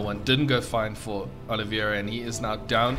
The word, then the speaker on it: Oliveira: the words today upgrades looking very good for Olivier Oliveira I almost said it wrong again his plus